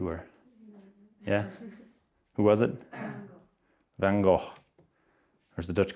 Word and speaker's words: Vincent van Gogh: Van Gogh. Or as the Dutch call him, Vincent van Gogh. Sounds like you're choking on a chicken bone when you say his name.